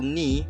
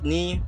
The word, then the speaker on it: knee: you can see there's we have four silence letters that we have the first is no the second is knock and the third is knee and the last is kneading and the second example